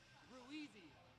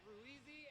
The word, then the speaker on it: Ruiz: Ruizy. Ruizy? You said it Ruizy and some other weird shit. But it's Ruiz. You said it wrong twice.